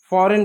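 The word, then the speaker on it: foreign: तो ऐसे समय में जी साइलेंट होगा। जैसे इसको क्या पढ़ेंगे? इसको केवल साइन पढ़ेंगे। साइन इसको साइन पढ़ेंगे। साइन साइन पढ़ेंगे। डिज़ाइन पढ़ेंगे। फॉरेन पढ़ेंगे। जी साइलेंट रहा।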